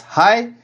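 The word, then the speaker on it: é: The early form of this word is reconstructed as hai.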